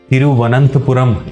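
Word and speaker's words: തിരുവനന്തപുരം: तिरुवनंतपुरम इसे केरलाइट्स बोलते हैं, जो अपनी प्रॉपर इसकी प्रोनाउंसिएशन है।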